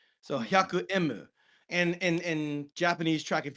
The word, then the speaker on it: hyaku emu: They just spelled it out like you're spelling like you're phonetically spelling out the letter M. So Mm-hmm. hyaku emu.